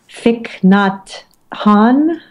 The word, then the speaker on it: Thich Nhat Hanh: Also, there's an incredible guided meditation about breathing from Thich Nhat Hanh. Am I pronouncing yes, that correctly?